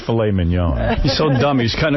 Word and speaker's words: filet mignon: how about tenderly aged filet mignon? Dick, you're an asshole. You don't say, how do you say it? Mignon? Filet mignon. That's how you say it, you Moulignon.